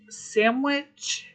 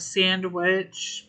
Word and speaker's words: sandwich: escalate very much I sandwich because because of how it's the pronunciation of Sandwich most people call it sandwich they miss the the harder D no flamingo yet nope